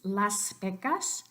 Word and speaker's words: Las Vegas: Las Vegas Las Vegas but don't turn the last s of Beck us into anything other than s because you'll remember that in any dialect of Spanish even Castellanos the letter s here would not become voiced because it doesn't come before anything so it definitely doesn't come before a voiced consonant so one more time